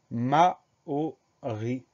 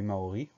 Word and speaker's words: Maori: rarement, c'est le mot Maori. Première syllabe, ma, M-A, deuxième syllabe, O, avec la lettre O. Et dernière syllabe ri, R-I.